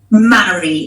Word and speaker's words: Maaree: Of course, it's Maaree, like when you're getting married. Maaree.